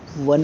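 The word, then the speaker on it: one: जैसे आप लोग बोलते हो वन, बोलते हो ना, वन ओ से स्टार्ट होता है।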